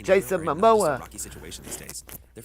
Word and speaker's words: Momoa: Jason Momoa. Jason Momoa.